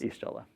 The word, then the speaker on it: Y'shtola: And then our fourth deck, we have Final Fantasy XIV, featuring, I do not know how to pronounce this. Y'shtola.